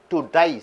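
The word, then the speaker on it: debt: Kick the bucket, பக்கெட்டை உதை என்றால் டு டை, செத்து போகுதல். He kick the bucket by consuming poison because of ஹிஸ் டெட்ஸ். டிபிடி என்றால் டெட் என்று உச்சரிக்க வேண்டும்.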